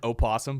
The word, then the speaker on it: opossum: play dead is it is it really called an opossum but it's a possum yeah why is there an o who decided i went dude it's you ever heard of a silent letter forehead yeah like why are you gonna throw an o there it's silent there's never a silent